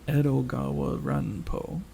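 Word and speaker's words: 江戸川乱歩: So his name, if you could kind of say it like Edogawa Ranpo. Edgar Allan Poe.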